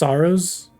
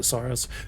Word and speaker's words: Saros: You think it's pronounced Sorrowos and everyone's just calling it Sorrowos? No, because they've done a lot of trailers and like gameplay behind the scenes where they call it Soros, but it very well